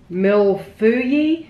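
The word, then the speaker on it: mille-feuille: It is pronounced mil fui.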